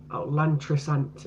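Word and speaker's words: Llantrisant: Lantrisant is how you pronounce it.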